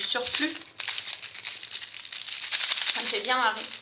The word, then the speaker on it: surplus: Elle prononce le S à la fin de surplus et du coup elle dit surplus. Ça me fait marrer parce que nous en France on ne prononce pas le S, on dit du surplus.